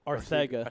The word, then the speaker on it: Arcega: I always pronounce JJ's name wrong. The Yeah, the it's announcer Ar- was saying it It's right. JJ Arthega. Arthega.